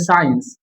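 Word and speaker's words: science: साइलेंट। जैसे साइंस साइंस साइंस साइंस translation करो।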